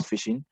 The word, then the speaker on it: phishing: You pronounce phishing as you go to fish, but spelled PH instead of F.